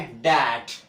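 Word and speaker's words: debt: तो देखिए यहाँ पे डी ई टी है, बी को साइलेंट करेंगे तो इसको उच्चारित नहीं करेंगे, तो क्या करेंगे डैट। सो क्या पढ़ते हैं डैट, डैप्ट नहीं बोलेंगे, डैप्ट नहीं बोलेंगे, क्या बोलेंगे डैट।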